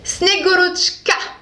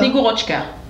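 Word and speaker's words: Снегурочка: Snegorochka. Snegorochka. Vodka. Ouais. Oh, vodka, c'est la même chose. Snegorochka. Tania m'a dit qu'il faut bien prononcer le tchka.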